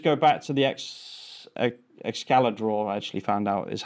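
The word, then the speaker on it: Excalidraw: if we just go back to the ex excalla draw I actually found out is how it's pronounced not Excel draw uh there is a missing part of this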